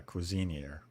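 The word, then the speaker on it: Cuisineer: how to say this couser cuisiner yeah Cuisine year like it's cuisine yeah I G get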